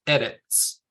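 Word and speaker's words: ארץ: exceptions to them like the word um for land or Earth is edits and it has the stress at the beginning and every time you see the word edits written out it'll have a stress mark above the first consonant because it's one that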